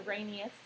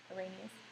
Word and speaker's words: Arrhenius: How do you say it? Arrhenius. When you read it, you go, but it's Arrhenius. Arrhenius.